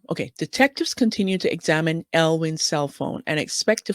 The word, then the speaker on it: Elwing: to Inside Edition and I pronounced his name earlier it should be elwin not huan Jonathan elwin who helped lead an